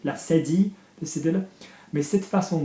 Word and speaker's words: cédille: Mais que cette façon, soft C because of the cedilla. Yeah, can you see the little tail accent under the C? La cédille, the cedilla.